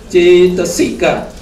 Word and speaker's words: cetasika: So CA would be T. T-A ta. S-I-C. K-A-K. Cetasika.